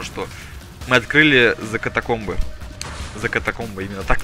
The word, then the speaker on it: За катакомбы: За катакомбы, именно так читается правильно.